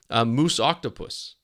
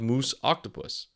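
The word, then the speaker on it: Muusoctopus: previously unrecorded species of moose octopus not moose Mo it's m uu s o c t o p u s I hope I'm pronouncing that right and if they are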